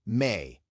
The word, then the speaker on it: me: In ancient Mesopotamia, modern-day Iraq, Syria, and Turkey, there was a belief called me, pronounced may, the divine force that animated all living things.